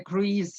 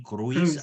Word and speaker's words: cruise: Have you ever been to a cruise ship? If not, would you like to have a such type of vacation? Of course, только слушайте, произносится cruise, не круиз, а cruise.